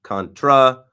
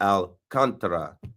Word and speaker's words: Alcantara: like Sandy Alcantara, and the C-A-N is spelled K-O-N, capital letters for the emphasis. Sandy Alcantara, not Contra, not Alcantara, Sandy Alcantara.